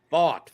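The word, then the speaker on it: Pfaadt: Fought. Okay, that's how you do it. Just the past tense of fighting.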